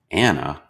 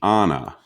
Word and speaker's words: Ana: to anna i asked pronouncing her name the american way anna the man's voice hesitated oh you must mean anna our first few years